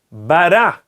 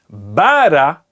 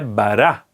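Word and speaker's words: ברא: A segunda palavra da Torá, bará. A sílaba tônica, novamente, é uma palavra oxítona. A sílaba tônica é o ra. Por isso, o ta'am se encontra no ra. Se fosse bara, estaria no bet. Mas não, a palavra é bará. Por isso, o ta'am se encontra no reish.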